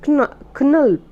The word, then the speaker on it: Knulp: Rochalde in 1914, and Knulp just to be pronounced Knulp, Knulp, these are two novels which represent the opposite poles of tension he experienced during these days.